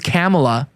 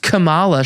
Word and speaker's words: Kamala: it idiot Camala Harris they say her name's camela they made that up by the way just so that they could get sympathy points CU they wanted to sound more black camela it's just Camala she's a Kamala she's